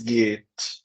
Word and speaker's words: geht: Percebe esse H? Ele só alonga a vogal. Quando esse H vem depois de vogais, essa vogal ela vai ser alongada e o H não é pronunciado. Tá? Diferente no hallo, que ele vem antes da vogal, então ele vai aspirar o A, hallo. Depois da vogal ele só vai ser alongado, ele vai alongar.